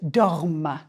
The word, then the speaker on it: dorment: Nous dormons, vous dormez, il ou elle dorment. The ENT is silent, but it makes you pronounce the final consonant of the stem.